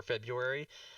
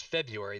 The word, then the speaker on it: February: type in the word there's two pronunciations for February the first one is February the second one is February which I have to